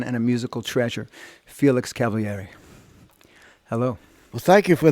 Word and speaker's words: Cavaliere: He pronounced it on TV Cavaliere because in Italian you pronounce all the vowels.